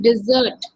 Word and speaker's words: dessert: डिजर्ट pronunciation में अलग है ना, फर्क है ना प्रोनाउंसिएशन में।